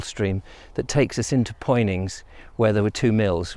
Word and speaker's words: Poynings: You've got various options at the dyke of which way you can go down towards Poynings, which is what he does, or Punnings, as I believe it should be pronounced.